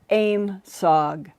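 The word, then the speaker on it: AOIMSG: the new aim sugg that's how they pronounce the acronym a-o-i-m-s-g aim sog it means airborne object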